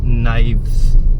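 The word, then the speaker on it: knives: आई वी ई एस नाइव्स अब इसमें के साइलेंट होता के साइलेंट होता है ठीक है के साट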